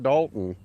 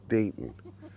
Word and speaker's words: Dayton: And that was Dayton, not Dalton. I was mispronouncing his name. It's Dayton.